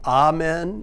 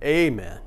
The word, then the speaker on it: amen: south has certainly been amen and i think you can add a little more emphasis with the a amen but it's your choice